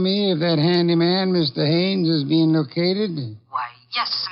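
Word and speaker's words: Haines: you know him H is your fellow name Hines used to fish out no no no not Hines Haynes couldn't be Huntingburg no it couldn't be the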